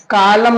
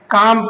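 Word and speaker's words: calm: और ऐसे ही काम है ना, कालम नहीं पढ़ेंगे, काल्म नहीं पढ़ेंगे, काम पढ़ेंगे।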